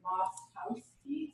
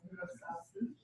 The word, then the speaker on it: Wlostowski: Because it starts with W, and he says you don't pronounce that, you pronounce the L, and it's like Wlostowski, so that's Wlostowski.